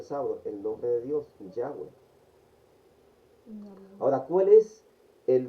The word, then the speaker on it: Yahweh: O sea que entre las pronunciaciones que se han aceptado, la más correcta es Yahweh Elohim.